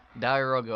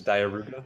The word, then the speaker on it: diarouga: Diarouga. I might have been pronouncing his name incorrect earlier. I saw somebody in chat right now saying. Yeah, it's. I'm pretty sure it's diarouga.